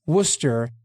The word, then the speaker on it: Worcester: Some of us are from there, and it's Worcester and Worcestershire, respectively, for the pronunciation.